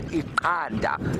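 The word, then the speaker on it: iqanda: in Zulu, which is Ikanda. And you can hear the subtle difference between the two clicks. The one is an X, the one is a Q, and egg is spelt with a Q, Ikanda.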